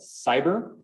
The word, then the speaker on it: Sibir: They developed a specific AI a few years back called Cyber, SIBIR, like Siberia, which is, it's actually how it's spelled, you can look this up.